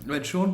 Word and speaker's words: Sean: the words because um Sean Bean's probably got to be the best example of it ever. And um when I was a kid, I used to pronounce his name Sheen Bean because it's totally what totally what it calls for, isn't it?